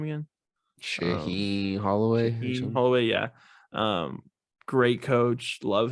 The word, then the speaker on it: Shaheen Holloway: Shaheen Holloway.